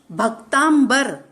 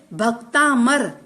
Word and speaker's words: भक्तामर: यह बात समझ लें आज भी कई लोग भक्तामर शब्द शुद्ध रूप से उच्चारण नहीं करते पहला अक्षर गलत बोलते हैं कई लोगों के मुंह से सुना है भक्तांबर भक्तांबर नहीं बल्कि सही शब्द है भक्तामर जिस का संधि